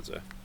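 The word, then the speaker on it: Xoxe: other guy's name Z it's it's Albanian like Albanian names like when you see like the alphabet it's it's the two it's X's actually so it's x o XE but you pronounce it Z so there yeah so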